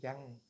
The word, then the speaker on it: Chang: My name is Chang. - Yes? - Chang. - Trang?